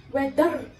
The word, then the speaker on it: whether: Because it's sometimes mispronounced by people. Like under, whether. Well, it is wrong. Now there is a rule I would like to tell you over here. The R or the R sound over here is only pronounced when it is followed by a vowel.